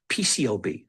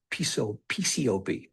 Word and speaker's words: PCAOB: So when I hear people say PCO, PCO is what they say, the A is silent.